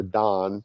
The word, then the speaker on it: Dan: And then group over there is the tribe of Dan, and or Don to pronounce it properly.